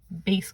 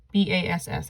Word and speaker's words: bass: clef looks like this this one is called bass clef b-a-s-s i know it looks like bass but it's pronounced bass and bass clef's nickname is f